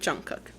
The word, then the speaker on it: Jungkook: Jungkook.